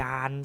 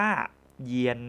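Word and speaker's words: yan: อะ ผิด นะ ครับ สิ่ง ที่ ถูก ต้อง เรา จะ ต้อง ออก เสียง ว่า เยียน นั่น เอง นะ ครับ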